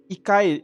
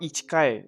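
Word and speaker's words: 一回: uh because you would because when you say because ikai it's not ichikai so i mentioned before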